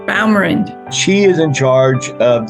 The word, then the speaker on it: Baumrind: How do you pronounce that last name? Baumrind.